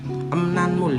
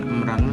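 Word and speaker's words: 음란물: Emnanmul dibacanya emnanmul, bukan emranmul tapi emnanmul artinya pornografi.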